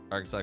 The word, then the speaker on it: Arkansas: Arkansas got its pronunciation from the French.